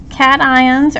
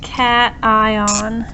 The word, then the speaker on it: cation: all their valence electrons it is pronounced cat ion so you want to separate the word right here cat ion let's take a look